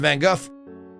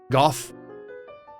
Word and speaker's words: Van Gogh: This is Le Café du Nuit, the Night Cafe, Vincent van Gogh, 1888 France. Gough? I'm not gonna say it like that. I'm gonna say it the American way.